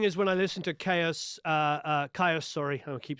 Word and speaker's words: Kyuss: Yeah, it is Kyuss.